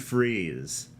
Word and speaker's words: Fries: And then Victor Freeze goes, Freeze, as in Freeze.